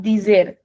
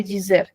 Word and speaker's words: dizer: Now this verb can be pronounced as dizer. It can also be pronounced as dizer. It's very common for the Brazilians to pronounce as dizer. Be very careful in that. They're not saying something like Gizer. It is di only, but it is pronounced as dizer, since our di can become g.